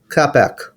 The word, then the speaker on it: CapEc: How are you guys actually pronouncing that? CapEc. CapEc. First time you said it was great.